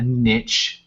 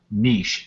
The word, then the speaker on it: niche: you know consider it a niche or niche as it's supposed to be pronounced you don't have to